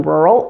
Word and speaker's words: rural: The last syllable in rural is a dark L. The dark L is made farther back in your mouth and your tongue needs to be low.